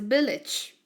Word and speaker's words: village: It's a village. Again, listen. Village. Can you pay attention to these? These and these. They have the same pronunciation. Itch. Cottage. Village. Can you listen again? Cottage. Village.